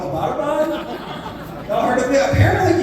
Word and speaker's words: Abbottabad: And she said, yes, and it's not pronounced Abbottabad. I was like, well, how do you say it? And she said, Abbottabad, right?